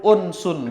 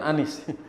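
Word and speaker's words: أنس: Fahibal qurani lahu unsun bial qurani alim. Lahu unsun bukan anis. Itu bukan anis cara bacanya.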